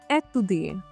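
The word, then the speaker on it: étudier: अब यहाँ पे देखिए, यहाँ पे ये एक्सेंट है, एक्यूट एक्सेंट है। एक्यूट एक्सेंट में क्या होता है? जो ई का साउंड होता है थोड़ा बढ़ जाता है, स्ट्रेच करते हैं।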